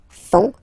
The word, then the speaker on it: font: And ils, plural, font, final T not pronounced, font, elles font.